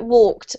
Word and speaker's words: walked: This is actually a T sound exactly like walked.